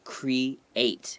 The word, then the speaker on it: create: A lot of times, like the words create, there's an E and an A next to each other. Some words you might just pronounce that E, right? Like beads and B-E-A-D. But here you say create. You have to separate the E and the A sounds, all right?